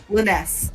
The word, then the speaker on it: Linus: Linus. Okay, Linus, you're up. I have to remember, it's like Tarjay. But it's Linus.